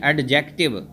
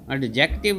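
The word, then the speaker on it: adjective: तो एक तो ये चीज़ याद रखें कि बहुत से बच्चे इस लफ्ज़ को गलत पढ़ते हैं, एडजेक्टिव। एडजेक्टिव नहीं, ये डी साइलेंट होता है, इसमें आपने डी को नहीं बोलना होता, और एडजेक्टिव इसको पढ़ते हैं, ज़रा ए पे थोड़ी सी स्ट्रेस देते हैं।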